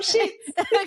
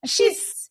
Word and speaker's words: schists: No, it's not shits. Okay. It's shists.